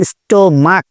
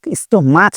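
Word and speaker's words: stomach: এইটার উচ্চারণ কিসের মতো এই দুইটা উচ্চারণ ক এর মত স্টমাক স্টোমাচ না এরপরে মনার্থক না মোনাার্থক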